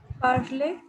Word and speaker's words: parler: uh, Tanya, how to pronounce this word Parler? Parley. Very good. C'est très bien. So it means like a ear sound is a in French, right?